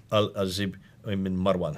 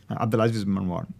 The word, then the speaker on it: Abdulaziz ibn Marwan: It was stated that the Cairo copy might have been written on the order of the Al-Azib ibn Marwan. Excuse me for my pronunciation. Abdulaziz ibn Marwan.